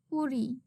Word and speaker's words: পরি: আমি শাড়ি পরি. Here the Bengali spelling of the verbs is a little different, but the pronunciation is same.